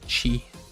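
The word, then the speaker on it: ち: of someone who is screaming with their mouth open because they just bit their cheek they bit their cheek good job good job screaming man that's right it is chi chi next up we have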